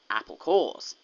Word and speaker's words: Apple Corps: groups are called and it sounds like core because apples have cores a Pawn Yeah a play on words yeah so so it's it's spelled Apple corpse but then you say apple cores oh that's dishonest having